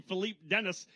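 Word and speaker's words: Philippe Denes: fantastic French pronunciation but it's actually Philipe Dennis uh the driver we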